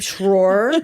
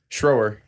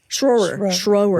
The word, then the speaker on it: Schroer: Schroer. Schroer. Like thrower. Thrower. Just say thrower and put an SCH in front of it.